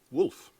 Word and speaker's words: Wulf: Wolf. 2011 erschienen. Ja, Wolf. W-U-L-F geschrieben, genau wie W-O-L-F ausgesprochen, also der Wolf, aber U-L-F geschrieben.